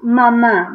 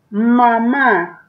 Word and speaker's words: mamá: Mamá, ¿verdad? Vamos a escribir la... Escríbelo. Mamá. Ma. Ma. Acento en la última A.